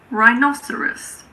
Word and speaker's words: rhinoceros: Similarly, if a word starts with RH, the H is silent, like in rhinoceros or rhythm.